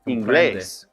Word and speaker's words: inglés: And also English is inglés. There's an accent on that E right there.